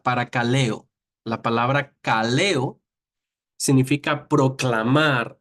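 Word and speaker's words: παρακαλέω: que originalmente se escribió que se que se pronuncia para caleo la palabra caleo significa proclamar hablar pero cuando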